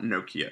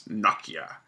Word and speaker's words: Nokia: by Nokia, which is the correct way to pronounce that name. It's not Nokia, it's Nokia.